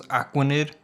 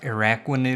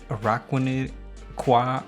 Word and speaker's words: Araquanid: I thought it was Aquanid. So I figured it's gonna be something with water, but if I knew it was I think it's pronounced Araquanid because it's like arachnid, but I probably would have